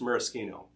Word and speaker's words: Maraschino: did burn I did there are those who will claim that this is pronounced Maraschino yeah whatever I've been saying Maraschino for like 50 years I'm gonna keep saying it so from its Maraschino